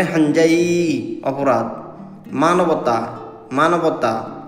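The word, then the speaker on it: 犯罪: মানে গম্ভীর লোক অপরাধ হাজাই হাজাই মানে অপরাধ অপরাধ উচ্চারণটা হবে হাঞজাই অপরাধ মানবতা মানবতা উচ্চারণ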